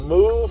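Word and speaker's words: Muve: gym is located at the old move Fitness but it's spelled m-u-v-e this guy is cutting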